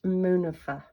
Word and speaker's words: Munifa: You can email me at, and it's pronounced Munifa.